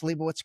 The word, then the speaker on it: Leibowitz: We've got the search engine optimization king, my man. Did I pronounce Liowitz correctly?